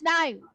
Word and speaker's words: knife: No, it's knife. Ah, yes. Sorry. Yeah. Okay, maybe something like, how about this? Can this be an example for k? No. K silent. K is silent.